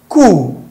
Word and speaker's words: coup: So of course we have photo, psyche, the P is silent, coup, you call it coup, not coup, coup, the P is silent as well.